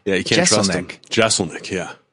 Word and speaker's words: Jeselnik: You said people pushed maybe to get a second S in there to make it easier. Yeah, to make it. Why would I do that? Because they think if it was two S's, Jeselnik would sound more correct.